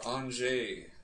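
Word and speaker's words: Anže: Or Anze, as they pronounce on their loudspeaker in LA.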